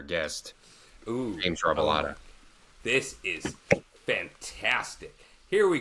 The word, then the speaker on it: Robilotta: Welcome, James Robilotta. Did I say it right? I should Nailed have it. practiced. Really? Nailed it. Yeah, you actually did. Oh, wow. James Robilotta.